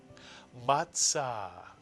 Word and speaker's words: matzah: The first syllable would be pronounced ma, mitsuyan. And now using the tzadi, pronounce the second syllable. Tza is correct. Put the word together and you get matzah, matzah.